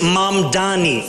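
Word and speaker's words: Mamdani: The name is Mom Donnie. M A M D A N I. You should learn how to say it because we got to get it right.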